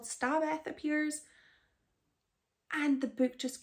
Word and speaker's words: Xstabeth: So Xstabeth, and I did look it up on YouTube to hear the author talk about the book, and that's how he pronounced it, so I'm going with that. I was calling it Xstabeth because I just thought of Christina Aguilera when she was ex-Tina, and I went with that, but I was wrong.